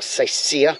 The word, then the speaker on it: Seisia: I mean, even getting all the way up here to Seisha or Seisia, as the locals say, it's just jam-packed.